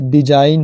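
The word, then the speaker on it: design: rule number छवा है यदि किसी शब्द में एन से पहले जी आए तो जी साइलेंट रहता है य साइन है एन से पहले जी आया वही डिजाइन है डिजाइन है नेस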